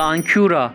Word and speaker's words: Ἄγκυρα: En frigio y griego, Ἄγκυρα (pronunciado Ankura) significa ancla de barco.